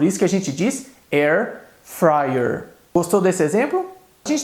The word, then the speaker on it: air fryer: gente fala air fryer, A gente costuma dizer no português, eu comprei uma air fryer, quando a pronúncia correta é air fryer.